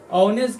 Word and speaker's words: honest: तो बताए थे कि ओ से पहले एच हमेशा साइलेंट रहता है मतलब है एच लिखा हुआ लेकिन का ह नहीं पढ़ना है सिर्फ अ पढ़ना है का ओ के होता